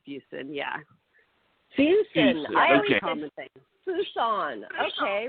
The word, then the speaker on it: Fuson: it fuson yeah every everyone pronounces it wrong it's fuson yeah Fus I Fon okay we're sorry mid February 199 okay so we're not gonna say we're not gonna say fous anymore right yes yeah